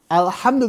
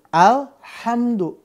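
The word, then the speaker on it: الحمد: bukan huruf mantul nih alhamdu mimnya juga sama mimnya bukan huruf Man mantul tapi kalau kita bacanya Al hamdu maka tawalut namanya memantul tidak pada tempatnya alham salah yang betul alhamdu atau bismillah saking pasihnya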